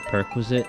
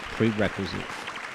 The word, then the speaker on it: prerequisite: the perquisite 100 and perquisite is a Sopranos joke it's actually pronounced prerequisite don't say prequisite at your sat interview um yeah penoso I